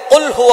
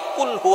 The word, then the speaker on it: قُلْ هُوَ: আল্লাহ পাক রাব্বুল আলামন এখানে বলছেন কুলহু আল্লাহু আহাদ। এখানে কফ দিয়ে পড়ছেন কিন্তু অনেকেই ভুল করে উচ্চারণ সঠিক না হওয়ার কারণে তারা পরে কাফ দিয়ে। কুলহু আল্লাহ।